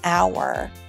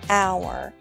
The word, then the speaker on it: hour: listen to the word hour hour do you hear how the H is silent you don't say how you say hour this one might be